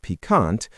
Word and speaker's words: piquant: Yes, piquant, pronounced piquant, means having a pleasantly sharp or spicy taste.